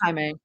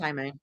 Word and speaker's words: Jaime: Their name is pronounced Jaime. It is Jaime. It is like it is spelled like that, but it's pronounced Jaime.